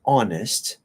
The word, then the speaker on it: honest: are exceptions like honest we don't pronounce the h so it's just like honest but usually they have